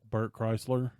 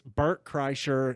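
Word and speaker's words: Kreischer: my favorite is uh Bert Chrysler it's Bert Chryser nobody knows how to say his name exactly I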